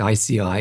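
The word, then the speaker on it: IASEAI: We pronounce it ICI but uh it's easy to misspell but you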